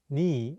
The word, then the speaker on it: 네: The question for this lesson is, why is 네, meaning your, sometimes pronounced ni in Korean? 네 is the shortened version of the casual possessive 너희, meaning your. It often gets pronounced as ni instead of 네 in spoken Korean.